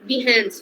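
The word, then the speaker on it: Behance: बी ई एच ए एन सी ई बिहस। लोग इसको बिह्स बोलते हैं। बट the correct pronunciation is बिह्स।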